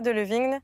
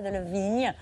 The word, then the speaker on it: Delevingne: De passage à Paris pour la Fashion Week, l'actrice Cara Delevingne était invitée sur le plateau de C'est à vous.